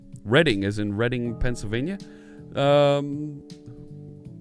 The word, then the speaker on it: Reading: so we're uh we're almost there also the Reading Railroad in monopoly yes reading right the the folks around here and I believe in the UK also it's pronounced reading not reading yeah so that's a thing alright